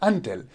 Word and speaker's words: until: as until it's not until you will pronounce it until because the stress goes on the second syllable that is until not